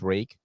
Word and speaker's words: Ruike: Like back then, you would buy a knife from Rake Knives, RUIKE. It is pronounced Rake.